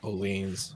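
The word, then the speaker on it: Öhlins: Oleans, nice. Oleans. Oh yeah, Oleans. I'm sorry. Oleans, I pronounced that Olins. wrong.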